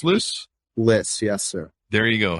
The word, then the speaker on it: Lyss: and everything else p is it Liss pronounced Liss Liss yes sir There You Go piss is